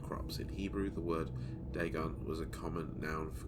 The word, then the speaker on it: Dagon: Dagon, that's how you say it.